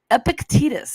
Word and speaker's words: Epictetus: feel like I had to look this up Epictetus that's how you say his name take the